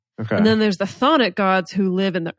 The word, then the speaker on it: Chthonic: The CH is silent. what? Chthonic or Chthonian.